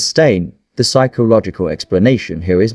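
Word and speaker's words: Berenstain: It was spelled beonstein pronounced steam. The evidence says stain.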